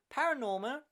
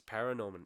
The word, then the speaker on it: ParaNorman: for their feature film works such as Coraline, Paranorman, and Kubo and the Two Strings. Say it again. Paranorman. It's Paranorman, yes.